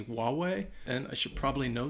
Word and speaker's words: Huawei: I think a lot of people would say Huawei, they would pronounce the H, even though I think it might just be Huawei.